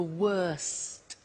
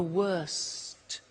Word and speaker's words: worst: The superlative is the worst. Notice the T. Bad, worse, the worst. Don't forget to pronounce the T.